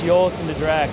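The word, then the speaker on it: Joris en de Draak: the owner speaking of it, and clearly it's Joost de Draak, and you pick it up pretty quick that way.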